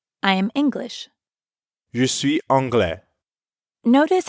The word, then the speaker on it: anglais: Je suis anglais. Notice how the ending of anglais is very similar to français. Both are masculine, and although they both end with an S, you don't pronounce it.